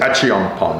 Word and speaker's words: Achiampong: Or you get some international guys too, with Collins, Achiampong, I want to pronounce that right, Frankie Tinilao guys. Achiampong.